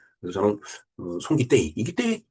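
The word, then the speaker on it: ソン・キテイ: 정을 데이라고 이제 여기 표기를 테이라고 하는데 태도 아니고 대도 아니고 그 중간 소리라고 저는 봐요. 그래서 저는 송기떼이 이기떼이 전 쌍디귿을 그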